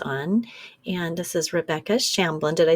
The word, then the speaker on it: Shamblin: have a guest on and this is Rebecca shamblin did I say that right Rebecca welcome yes